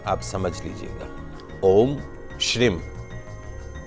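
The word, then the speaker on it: श्रीं: आप समझ लीजिएगा ओम श्रीम श्री के ऊपर बिंदी है मतलब म ओम श्रीम क्लिम श्रीम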